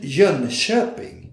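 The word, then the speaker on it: Jönköping: hide sequel company edition jean shepping that's the way you should pronounce john chopin which i heard before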